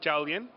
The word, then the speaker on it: Jiàoliàn: I don't trust myself give us the proper pronunciation in Chinese of the film it's called dalian which means coach in Chinese ok and so